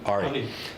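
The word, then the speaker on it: ARRI: has made or our how you pronounce it Ari is it Ari yeah I call it AR I'm American so Ari yeah so um yeah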